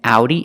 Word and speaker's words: Audi: gauge Audi and because with these three words the Au does not make the ah sound it makes three different sounds engage and makes a long a in Audi it makes a sound ow and then because it makes it sound uh because and if you know